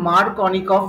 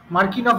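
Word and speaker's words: Markovnikov: হ্যাঁ, মার্কিনফ আলাদা, এটা মার্কনিকফ। মার্কিনফ তো কিছু নেই, জানি না কেমিস্ট্রিতে। মার্কিনফ কি আছে স্পেলিংটা? হ্যাঁ ওইটাই তো, তুমি যা স্পেলিং প্রোনাউন্সিয়েশন ভুল করছো। ওইটাই ওইটাই ওইটাই ওইটাই ওইটাই ওইটাই তুমি স্পেলিংটা তুমি প্রনাউন্সিয়েশন ভুল করছো, এটা মার্কনিকফই বলে।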